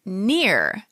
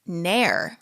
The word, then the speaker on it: Neher: We pronounce my last name Neer. It turns out, based on my 15 minutes of research, my last name is actually pronounced Nair. Wow. I'm learning things too about my own life. That's interesting. Yeah, we've been saying it wrong.